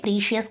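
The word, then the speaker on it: precious: ఇక్కడ ఉచ్చారణను గమనించండి: అది "ప్రెష్-అస్," "ప్రె-షస్" కాదు.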